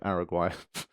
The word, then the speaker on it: Araguay: I pronounce it as like Paraguay. So, Araguay.